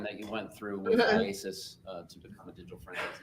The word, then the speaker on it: IACIS: How do you say it? IASIS. IASIS.